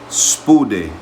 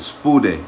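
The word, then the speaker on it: σπουδή: what does it me SPO day that's how you say it SP day it says haste with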